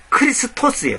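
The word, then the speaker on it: Χριστός: 원래 헬라어 발음으로 정확히 크리스토스예요.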